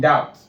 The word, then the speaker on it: doubt: But I've never actually seen someone pronounce B in doubt. You don't say doubt.